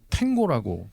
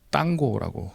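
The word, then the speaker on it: tango: 그 우리나라는 미국에 영향이 많아서 저 발음을 탱고라고 발음하는데 유럽에서는 딴고라고 발음합니다.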